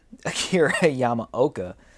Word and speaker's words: Yamaoka: the soundtrack by akira yama how do you pronounce his name yamaoka this show is not easy to produce now